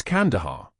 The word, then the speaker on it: Kandahar: "It's Kandahar. Kandahar." The stress on the first syllable.